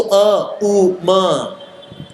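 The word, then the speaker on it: ॐ: सो अ उ म, इसलिए ओम ऐसे बोला था, ये राइट प्रोनाउंसिएशन है ओम की, अ उ म। कई लोग ऐसे कर रहे थे ओम ओम ओम, अले सोना बच्चा, ये ओम ओम नहीं होता है, ये होता है अ उ म।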